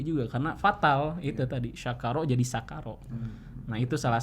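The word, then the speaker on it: شكر: Jadi karena kita kadang suka enggak nyadar ya, misalkan kita membaca dalam lafaz Al-Qur'an itu ada kata syakaro. Syakaro. Tapi kita bacanya pakai sin, jadi sakaro.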